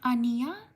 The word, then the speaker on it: Anya: Shout out to, oh, it's pronounced Ania. Did I get it right? Ania. Shout out to Angela.